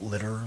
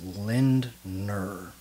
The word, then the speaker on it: Lindner: of Joe Aesthetics or Joe Lindner not litter lot litter everybody's saying his last name wrong it's Lindner the passing of Joe